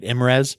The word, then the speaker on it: IMES: Imes if you do you don't spell it out you say it right Imes that's right Imes and